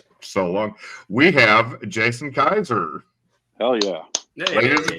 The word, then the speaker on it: Keyser: We have Jason Kaiser. Hell yeah. Hey, Ladies and gentlemen, need Jason Kaiser. Woo! You pronounced it right.